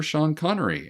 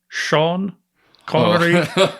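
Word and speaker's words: Sean Connery: be named in honor of the late Sir Shan Connory.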